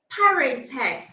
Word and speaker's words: Piratech: Piratech. Piratech. It's Yeah. actually a word that combines pirates and also technology.